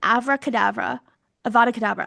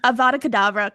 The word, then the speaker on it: Avada Kedavra: Snape, summoning Voldemort, and Ebony firing an Avada Kedavra. I said it wrong. That's how out of touch I am from this. Abracadabra. Abracadabra. Abracadabra. An Avada Kedavra curse, which is misspelled as Abra, Abra, Cadabra,